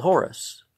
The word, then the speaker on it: Horus: leaning upon the staff he's called Horus which is the Greek pronunciation of Haru the four groups each